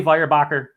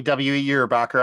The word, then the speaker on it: Weyerbacher: ago it comes from some people might say firebacher others might say wirebacher but Matt and I being the pronunciation experts that we are we are pretty